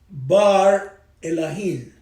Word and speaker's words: Bar Elohim: Se pronuncia Bar Elohim, Hijo de los dioses. A muchos que lo confunden cuando dicen Elohim.